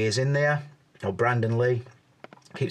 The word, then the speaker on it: Brandon Lee: me to believe that Brandon Lee is in there or Brandon Lee keep saying it wrong don't know why I said Brendan I think I'm thinking of Brendan Rogers Liverpool manager so yeah you